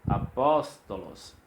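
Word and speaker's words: ἀπόστολος: Então observe que o pós está acentuado, ele é pronunciado mais forte. Se não tivesse esse acento, seria apóstolos, porque o sigma final ele dá uma tonicidade, ou ele dá a força, a sílaba mais tônica no final.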